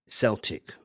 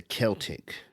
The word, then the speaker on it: Celtic: In English, they will pronounce it as the Celtic people, but when they mention the football team, they'll say Celtic. But in Irish Gaelic, it's actually Celtic.